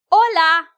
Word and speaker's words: hola: They are mute. When I say hola, welcome to butterfly Spanish. Like okay. Yeah, I I already said that. But when I say hola, I don't say hola. I said, "Hola." Even though if you write it, you're going to write it with an H.